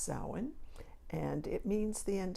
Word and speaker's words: Samhain: my pumpkin and it spelled like you would say Samhain but it's actually pronounced so in' and it means the